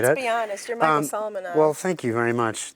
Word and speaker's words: Solomonov: You're Michael Solomonov. Well, thank you very much. Thanks also for pronouncing my last name correctly.